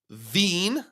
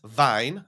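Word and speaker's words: Wien: It's pronounced Veen, not Vine.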